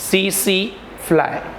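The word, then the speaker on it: tsetse: It spread through CC fly, T silent है, CC fly।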